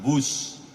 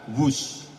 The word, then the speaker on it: Whoosh: Dan kereta cepat ini kita namakan WUSH. W-H-O-O-S-H. Dibaca WUSH. Ini diinspirasi dari suara yang melesat dari kereta berkecepatan tinggi ini. Dan singkatan dari waktu hemat, operasi optimal, sistem hebat. Sekali lagi, W-H-O-O-S-H, tapi bacanya WUSH.